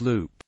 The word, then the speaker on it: Leupp: in Lup In 1902 the town's name is pronounced Loop soon afterward the school